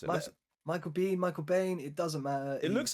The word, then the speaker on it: Biehn: It says Bean or Bean. So Bean Okay. then. So Bean, I guess. Michael Bean. So Michael stupid Bean. from Wikipedia. It literally says pronounced Bean, like Bean or Baan.